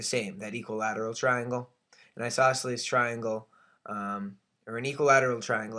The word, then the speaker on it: isosceles: And I spell it I-S-O-S-C-E-L-E-S, isosceles.